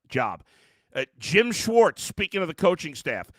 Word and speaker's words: Schwartz: Jewish person in your life you know it's pronounced Schwarz not Schwartz it drives me freaking crazy say the name